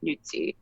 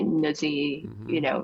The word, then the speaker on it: Nuzzi: There's dispute even in my own family about it because there's the correct Italian pronunciation is Nuzzi, and then some people say Nuzzi.